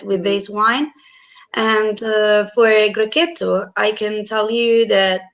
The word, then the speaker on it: Grechetto: people are used to call, but the perfect pronunciation is a Grechetto, and it's a very fresh and fruity, very mineral wine, and perfect for antipasto or great with any kind of bruschetta.